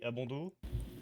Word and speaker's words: Abondo: Et Abondo? Bah Abondo, comme ça se prononce, sans le S à la fin.